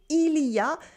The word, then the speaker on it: il y a: However, we still say il y a une petite école, il y a des enfants, des grands-mères. In everyday spoken French, the il y a tends to become ya.